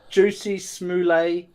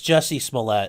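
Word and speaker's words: Jussie Smollett: he's the trial for that um is it pronounced juicy smoolay no it's jessie smollette is his real name okay juicy smellier the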